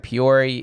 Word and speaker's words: Peoria: had a performance in Peoria Illinois on Friday last Friday that's how you say that peori Peoria Peoria it's French as Peoria but I know